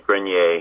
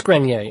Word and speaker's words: Adrian Grenier: the actor Adrien grineer am I pronouncing that by the way I never know it's actually grer it is grer okay sorry it is